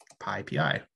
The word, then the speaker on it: PyPI: And the reason why you pronounce it PyPI, which I just sounds kind of silly, is just because there's an existing Python tool that's really popular that's called PyPy. And that said PyPI. So that sound was taken.